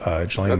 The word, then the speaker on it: Ghislaine: And I'm going to be focusing on the Ghislaine, or whatever, the Maxwell, Ghislaine Maxwell.